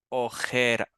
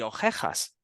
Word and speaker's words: ojera: Y si te fijas, van a pronunciar las dos palabras, si lo pronuncian mal, van a sonar igual, van a decir Sí. ojejas y ojejas.